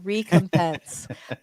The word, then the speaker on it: recompense: We shouldn't have to look that up because none of us have been contacted about I can never say this word. I always want to add an extra syllable, recompense for the use of our creative property.